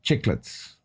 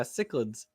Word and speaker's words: cichlids: you're right but yeah cichlids oh that's how I say it or some people say kids which I I've heard that pronunciation before too there are lots of different ways to pronounce names um you know in Dutch it begins with ch with a CH sound so yeah that's probably